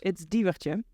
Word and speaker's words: Diewertje: No one's ever able to fully actually pronounce it correctly, but it's Diewertje. Okay, say that one again. Diewertje.